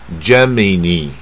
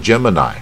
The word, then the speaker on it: Gemini: 那如果用自然发音的话，你可能念成 Gemini，那老外就听不懂了。为什么他念 Gemini，他就念这个后面的